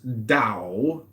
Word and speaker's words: Tao: The word Tao, properly pronounced Tao, has lent its name to a way of understanding and living in the world with profound implications for modern societies.